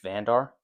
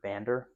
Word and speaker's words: Vander: The other pilot we get in this set is Gold Leader Dutch Vandar or Vander is how you pronounce it.